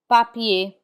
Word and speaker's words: papier: We do not pronounce ER, and the same holds true for IER. We do not pronounce the R in IER. Instead, it has the A sound. Papier, papier, which means paper.